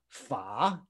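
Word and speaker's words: 法: Now, this character is pronounced fa, nothing to do with dharma, nothing to do with the sound.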